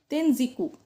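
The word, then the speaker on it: Tenjiku: Number 14, Wu Yin term is used in Japan where it is pronounced as Tenziku.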